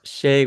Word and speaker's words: Sha: me a note and he called me Shay and he wrote out SHA with a line above the A. And way back then, we learned phonics, which was a long A over a line above